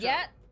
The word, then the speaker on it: ye: He's not dead yet, What'll it right? be? You are here to drink, I hope. I know ye is actually pronounced the or the.